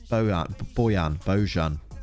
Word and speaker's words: Bojan: possible he's gonna reverse beaujon he has beaujon what a strange footballer boyan you say his name properly always looks sad as